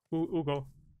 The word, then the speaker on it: Hugo: Because in Spanish, the H doesn't mean anything unless it's like after a C or an S. Yeah, it's like my name would be Ugo, and Hugo. Ugo.